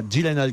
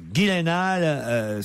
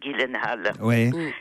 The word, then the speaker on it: Gyllenhaal: Jake Ghislaine halle car il faut prononcer Ghislaine et non pas dylanal comme je l'ai fait hier ou avant-hier Jack Gyllenhaal ce nouveau héros alors